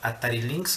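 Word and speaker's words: Atari Lynx: que hicieron lanzaron el atari link plata y links huatay links disculpen la pronunciación atari links que es más correcto que está pues bueno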